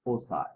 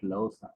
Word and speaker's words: Llosa: The pronunciation is Osa, yeah, not Losa.